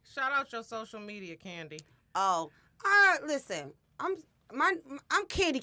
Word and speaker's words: Kandi: CA in di and I need to spell it out for y'all cause y'all always spending my name with a why and then it's like King like cocaine because I'm like dope so it was like candy cane see a nd